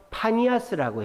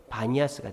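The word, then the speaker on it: Banias: 판신의 신전이 있었어요 그래서 파니아스라고 했어요 현지인들은 근데 피자 발음을 현지인들은 파로 안 하고 b로 하기 때문에 바니아스가 된 거예요 현지인들은 바니아스 하라고 하는데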